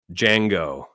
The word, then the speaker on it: Django: I'm very, very glad that he was also in Eric's list because we're talking the D is silent, Django from Mm.